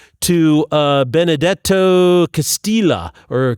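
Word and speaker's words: Castelli: And what's really interesting is Galileo wrote a letter to uh Benedetto Castila or Castillia. I'm He's Italian, not Spanish, so the double L I believe is pronounced.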